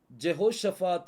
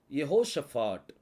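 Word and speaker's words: יהושפט: யோசபாத் அப்படின்னு சொல்லி சொல்றோம் இங்கிலீஷ்ல ஜெகோஷபாத் அப்படின்னு சொல்லி கொடுக்கப்பட்டிருக்கும் ஆனா எபிரேய மொழியில அது வந்து யெகோஷபாட் அப்படின்னு சொல்லி வரும் இந்த யெகோஷபாட் அப்படிங்கிற அந்த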